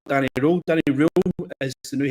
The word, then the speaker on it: Röhl: Whether he's the right man for the job, we'll never know, but Danny Röhl is what to pronounce it, not Danny Röhl.